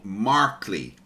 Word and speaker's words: Markley: I always get your name say it wrong Markley right yes that's right Markley yes uh I've